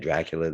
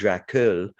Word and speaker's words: Dracul: believe it's called dracul that's how i would say it as a montrealer perhaps uh a canadian would would say or an american might pronounce it differently but i would say dracula dras without dracula without the a at the end pretends to be this